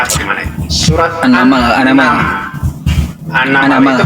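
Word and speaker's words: An-Naml: Surat Annamal. Anamalam. Anamal itu bacanya surat baca apa?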